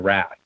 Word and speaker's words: Wrath: the Batman and the Wrath, who incidentally, I've been mispronouncing this in my head for 40 years. I always thought it was Wraith.